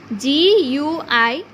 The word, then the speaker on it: guitar: GUITAR. So here you this letter will be kept silent and the other letter will be pronounced it in this way, guitar.